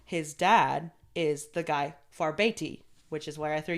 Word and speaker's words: Farbauti: Farbeti, I believe is how you say it. Like I said, it looks like Farbauti, like because it has like a U in it, but the pronunciation was Farbeti.